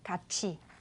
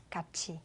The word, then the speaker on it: 같이: Khi chúng ta viết thì là như thế, nhưng mà khi chúng ta đọc là 같이. 같이.